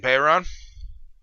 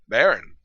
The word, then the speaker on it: Bayron: You clearly haven't been to my channel then, Bayron. Baron? I pronounced it Bayron. Baron. No, because a Baron would not have the Y. It's Bayron. Baron would just be B-A.